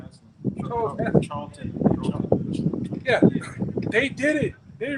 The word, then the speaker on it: Charlton: Charles Heston. Charlton.